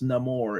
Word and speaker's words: Namor: name or though because it's pronounced no more in the movie no more let me